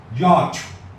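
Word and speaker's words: yacht: y a s No y a c ย เรือ ยอ เร ยอ ยอด ยอด ยอด อ่าน ว่า ยอด ไป เลย ก็ ได้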